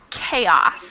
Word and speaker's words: chaos: word below is pronounced chaos even though it's spelled totally differently it's spelled with a CH but we pronounce it chaos okay can I even